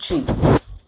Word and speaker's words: chi: A chi, notice it is pronounced ch, not x. It's not pronounced like k, x. I mean, there's already an x, xi, in the Greek alphabet. It's pronounced chi.